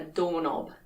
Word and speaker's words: doorknob: is a doorknob a doorknob yes the k in knob is silent and these things here